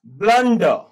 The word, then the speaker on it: blunder: So this is ब्लंडर, ब्लंडर, जोर से बोलेंगे ब्लंडर, तो आर साइलेंट हो गया।